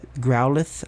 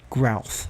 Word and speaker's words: Growlithe: i pronounce there are so many pokemon that i pronounced so shitty like uh growlithe i always pronounced it grouth i mean i never